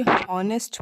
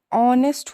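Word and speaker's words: honest: दूसरा एन ऑनेस्ट, यहाँ पे बच्चे हॉनेस्ट पढ़ते हैं बट नो, ऑनेस्ट होता है बेटा, क्योंकि यहाँ पे एच जो होता है वो साइलेंट होता है और ओ से हम लोग शुरुआत करते हैं, तो ओ जो है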